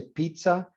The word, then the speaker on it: pizza: That's the reason we say pizza, because we interpret that longer sound as almost like a TS sound, but pizza is like a grupo consonántico en italiano que tiene una mayor duración.